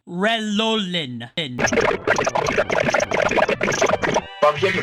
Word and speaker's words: Relolin: His name is pronounced Relolin. Relolin.